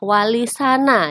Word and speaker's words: walisana: Muhammad Adnan berpendapat bahwa kata Songo merupakan perubahan dari pengucapan kata sana kata itu diambil dari bahasa Arab sana atau mulia yang berarti terpuji sehingga pengucapan yang benar adalah walisana yang berarti wali-wali yang terpuji dan pendapat Profesor Adnan